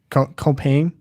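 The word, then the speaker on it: Compiègne: Can you pronounce comp? Comp so you only say three of the letters.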